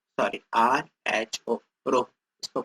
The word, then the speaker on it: rho: रो से डिनोट करते हैं, रो, ROW, रो, RHO, रो, सॉरी RHO, रो, इसको प्रोनाउंस करते हैं।